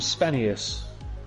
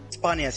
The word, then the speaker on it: Spanias: Is that how we say your name? Spanius? Spanias, yeah, Spanias.